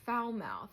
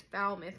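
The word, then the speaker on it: Falmouth: I first saw that I was like oh foul mouth I was calling it foul mouth it's foul myth cuz in New England people pronounce things weird and that's a fun fact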